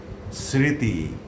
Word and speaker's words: স্মৃতি: যদি শব্দের প্রথম ব্যঞ্জন বর্ণের সঙ্গে মফলা যুক্ত থাকে তাহলে সাধারণত তার কোনো উচ্চারণ হয় না।